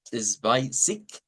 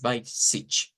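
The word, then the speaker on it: zwanzig: Este puede pronunciarse con K o puede pronunciarse con SH al final. Cuando se pronuncia con K es Zweizig y cuando se pronuncia como una CH, ¿verdad? Es by sich. De hecho, el sonido sich es más común.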